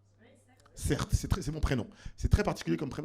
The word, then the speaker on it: Certe: Moi, j'ai grandi en banlieu parisienne avec le prénom cert. Certes, ça s'écrit c E r t e.